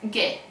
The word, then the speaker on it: ghe: Or the word ghetto. We have G followed by a silent H and then E. And we read it as ghe, ghetto.